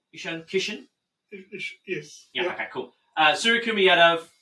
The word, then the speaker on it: Ishan Kishan: Did I pronounce that correctly? Ishan Kishan?